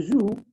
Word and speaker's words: jouent: So the first three will be joue. And the last one, we had said earlier, we don't pronounce the NT. So it is just like the first one.